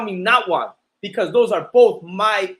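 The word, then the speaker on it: Nawat: you can call me notwa because those are both my my original heritage my original language that's where i come from right and and now what is pronounced just like that n-a-w-a-t not what you know what i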